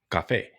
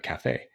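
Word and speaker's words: Café: Cafe actually it's called Cafe as in coffee the Spanish pronunciation uh Cafe so this is a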